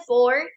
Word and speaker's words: four: 14 ahora pronunciación de for ya sabemos que la u no se pronuncia sino que alargamos la o y la pronunciación de la r es are for De igual forma